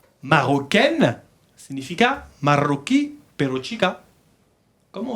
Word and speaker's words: marocain: En francés, chicos, importante, la A-I-N se pronuncia igual que la I-N y la U-N.